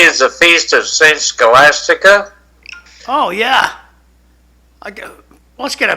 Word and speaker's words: Scholastica: Today is the feast of Saint Scholastica.